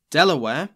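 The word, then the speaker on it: De La Warr: thomas west the third baron de la war delaware which is how i'm going to be pronouncing his name forced the survivors to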